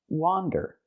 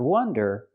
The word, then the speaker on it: wander: It comes from this word, and the word is pronounced wander. Again, it has the open ah sound like hot and stop. Wa, wander. Not wonder, but wander.